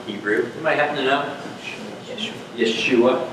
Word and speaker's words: Yeshua: Yeshua. How do you say Jesus in Hebrew? Yeshua.